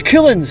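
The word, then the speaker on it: Cuillins: It's the Coolans, spelt different. Sky, but pronounced the same.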